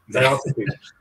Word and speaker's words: Diotrephes: And I always get the guy's name wrong. It's Diotrephes, I guess. Diotrephes. There we go. I got it right. Diotrephes.